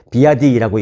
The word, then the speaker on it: BYD: 그 다음에 BYD라고 해서 중국 업체인데 비아디라고 읽습니다.